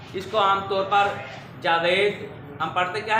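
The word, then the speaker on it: جاوید: ये जावीद होता है। क्या होता है? जावीद। जावीद है, असल लफ्ज़ क्या है? जावीद। जावीद है, जबकि हमारे यहाँ रिवाज ये है कि इसको जावेद या जावेद पढ़ा जाता है। इन दोनों में से क्या दुरुस्त है? जावीद। जावेद या जावेद में से जावीद दुरुस्त है, जावीद दुरुस्त है।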